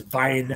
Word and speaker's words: Weihnacht: So, and just remember that W's are pronounced V over there. So it's Weihnacht.